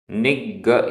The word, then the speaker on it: निग्गह: च छ तच्छिमा तुच्छिमा निगह आधा ग पूरा ग निग निग्गह निगह रयणह रयणह तः